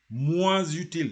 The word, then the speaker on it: moins utile: Moins utile. You have to say moins utile.